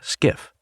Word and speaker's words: SCIF: They call it a SCIF, pronounced skiff.